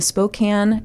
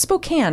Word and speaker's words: Spokane: Robert Yates killed 17 sex workers in the Spokane it's Spokane right not Spokane I think it's Spokane but